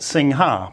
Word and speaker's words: Singha: with with an H so we get Singha but the the pronounciation inside because we ignore this one is just sing so if you want to sound like a tourist in Thailand ask for a singer beer if you don't want